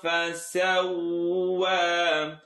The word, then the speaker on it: فسوى: الذي خلق فسوى. فسوى. Don't say va. If this is touching the bottom teeth, you're saying V.